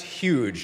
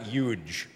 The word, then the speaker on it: huge: And Donald, as long as I have you here, it's pronounced huge, not huge.